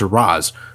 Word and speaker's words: Ra's al Ghul: or Ra's al Ghul how is it pronounced I got the animated series telling me it's race and I got the Nolan films telling me it's Roz soon Batman could frost a frail old mr.